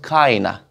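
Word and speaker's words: kinda: नाउ अब यहाँ पे एक और चीज देखिए, जो नेटिव इंग्लिश स्पीकर्स होते हैं वो इसको प्रोनाउंस करते हैं एज काइना, काइंडा नहीं, काइना.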